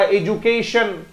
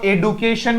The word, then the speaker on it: education: TI से क्या बना था, ये श वाला, शंकर वाला, एजुकेशन। आप इसको एडुकेशन भी बोल सकते हैं, दोनों प्रोनाउंसिएशन एक्सेप्टेबल है बच्चे इसका। एजुकेशन भी सही है और एडुकेशन भी सही है।